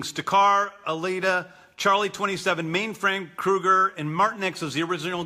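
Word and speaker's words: Krugarr: It's Kruger, and that's the pronunciation of that character's name, who's a sort of sorcerer.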